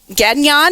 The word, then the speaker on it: Gagnon: and uh and an amazing individual uh Rosie Gadan. Am I pronouncing your last name? I never asked you, my dear friend. Is that how it's pronounced? Pronounce your last name. I'm G. Gan Gan.